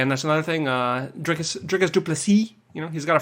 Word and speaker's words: Du Plessis: grew up in South Africa my name is Du plessis anyway uh that's it for the corrections you